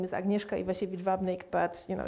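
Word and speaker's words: Agnieszka: knows me as my full name is agneska iash vnik but you know it's spelled here in case if you want to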